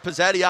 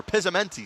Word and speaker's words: Pizzamenti: He had Pizzetti on him. Or Pizzamenti, sorry. Missing a whole syllable there.